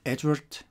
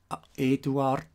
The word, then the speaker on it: Eduard: And here, to make the page complete here, Billy's real names are Eduard Albert Meyer, not Edward, not Albert, Eduard Albert Meyer, and not Meyer or Meyer, but Meyer.